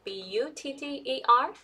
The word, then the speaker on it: butter: are actually two and this one is like upside down V that's when you have a stress on the syllable so for this one